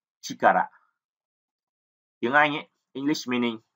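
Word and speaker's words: 力: Âm cưng thì chúng ta đọc là chikara.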